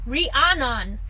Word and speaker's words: Rhiannon: Rhiannon.